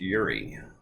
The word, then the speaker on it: Juraj: is Yuri bov uh even though his name has two JS it's pronounced Yuri um and that's what